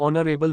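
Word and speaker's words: honourable: underscore underscore underscore underscore ऑनरेबल मैन एन एच is silent soul sound O takes N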